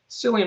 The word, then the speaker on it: Cillian: there not to love Cillian Murphy or Killian Murphy I think is the proper pronunciation ah I would say